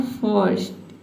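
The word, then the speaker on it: first: ये देख सकते हैं कि आर को प्रोनाउंस किया ही नहीं जा रहा है। ठीक है? जो आधा र का साउंड है इसको हम प्रोनाउंस करने ही नहीं रहे हैं। ठीक है? तो आपको क्या करना है? आधा र का जो साउंड है इसको साइलेंट रखना है।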